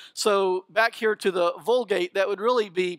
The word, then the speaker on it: Vulgate: point is though that in Latin you pronounce the v's with a W so back here to the Vulgate that would really be pronounced woolgate it's like that old